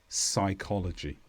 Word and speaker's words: psychology: The P disappears completely and we say words such as psycho, psychic, psychology.